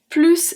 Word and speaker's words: plus: Here, plus we are going to pronounce the S. I said that it was a grammar and conjugation text practice, but you know I can never resist to why we pronounce the S at plus. So let's see it one more time. We are going to pronounce the S at plus because it means more, and also because it is not followed by an adjective starting with a consonant.